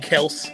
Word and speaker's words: Kelce: You ain't gotta worry about Travis Kelce. Or better yet, Kels, which is the right pronunciation.